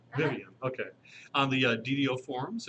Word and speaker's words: Vyvyanne: Vyvyanne, is that how I pronounce it? Vyvyanne. Vyvyanne, okay.